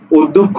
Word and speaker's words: অধ্যক্ষ: তাহলে ধয় যেহেতু জফলা আছে শব্দের মাঝে, সুতরাং ধয়ের সাথে আছে ধ হবে দ্বিত্ব।